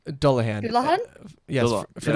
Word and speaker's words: Dullahan: I don't think I pronounced the second one right. Dullahan.